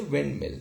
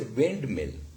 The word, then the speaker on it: windmill: The loss of d here, we say windmill. We do not say windmill, rather windmill.